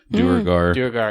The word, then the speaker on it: duergar: lesson what's a drugar so drugaars or what how do you pronounce that drew guard i don't have the word in front of me though duergar yeah so they're they're